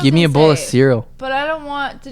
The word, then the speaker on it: Ciryl: How is that offensive when I'm pronouncing it correctly? It's cereal. Ciryl Gane.